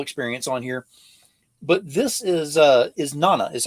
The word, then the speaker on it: Isnana: But this is Nana, is how you pronounce it, correct? Correct. Yeah. Now, give us the lore behind Isnana. What exactly is Isnana?